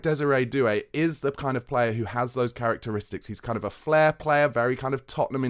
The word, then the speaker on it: Désiré: Now, it's Désiré, he's got an accent on his E, but it's spelt desire.